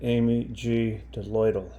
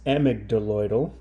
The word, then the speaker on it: amygdaloidal: It is a AMYGDALOIDal basalt, spelled like this, which to me looks like AMYGDALOIDal. At first I thought, well, who is AMYGDALOIDal and why does she have her own rock? The correct name is AMYGDALOIDal, and it is a